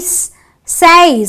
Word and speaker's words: says: said the a sound another exception says I have an a wide but I don't say says she says I say she says so it is the set so the S the a y giving you the a sound and the s that